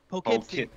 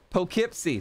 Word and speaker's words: Poughkeepsie: So it's like dough with a P. So it's dough with a P. Poe. But it's not. It's not keep. It's not keep. Poughkeepsie. Poughkeepsie.